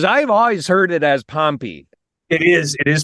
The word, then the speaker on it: Pompey: beginning and because I've always heard it as pompy it is it is pompy okay yeah and I I give it to